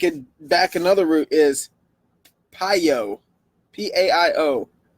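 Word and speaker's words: paio: if you take it back another route is piyo p-a-i-o pronounced pyo means to strike or sting wow that's interesting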